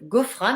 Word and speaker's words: Ghofrane: printemps suit l'engagement de ghofrane alors je prononce à la française jeune tunisienne qui se